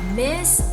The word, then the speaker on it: Ms: is pronounced mis so that has a z sound the ms is miss